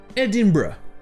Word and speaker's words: Edinburgh: peu différent niveaux prononciation la prononciation officiel c'est edinburgh et ça donne l'impression sont que le r est avant lui edinburgh et en plus que vous pouvez le voir le g h et muet edinburgh bien sûr ça c'est